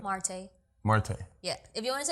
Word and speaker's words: Marte: You gotta roll the R's though. It's Marte. I'm Dominican. Marte.